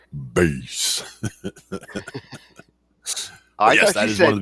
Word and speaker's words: Bas: happily peace peas it is pronounced base yes that is one